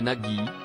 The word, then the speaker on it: Nagui: origine égyptienne ah oui c'est Nagi on prononce comme ça et là je me